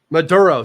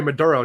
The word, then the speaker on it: Maduro: Maduro, sorry. Maduro, not Madur, not Muro. Not Maux. Maduro. Maduro. Maduro.